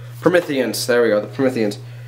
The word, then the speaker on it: Prometheans: the new enemy it's called the promethos I probably said it wrong Prometheans there we go the